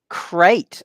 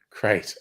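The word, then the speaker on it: Krait: spaceship in Elite dangerous cat carrier crate crate okay it's spelled differently it's spelled KR AIT that's that's right there's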